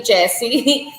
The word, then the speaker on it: Yessie: Just I have to say Yessie because it's spelled with a Y, but it's actually Jessie.